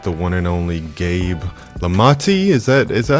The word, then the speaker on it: Lomotey: I am here today with the one and only Gabe Lamati. Is that is that how I pronounce it? Gabe Lumi. Lumati.